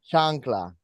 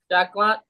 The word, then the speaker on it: chancla: Chancla. Chacla. Chancla. I'm There's sorry. an N in there.